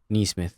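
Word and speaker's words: Nesmith: Nembhard or Neesmith? Neesmith. Yeah.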